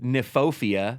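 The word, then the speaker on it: Kniphofia: In there, we have a plant called red hot poker, aka the torch lily, aka nefopia, spelled with a K.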